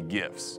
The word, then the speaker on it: GIF: to each other usually gifs it's pronounced gif okay just stop so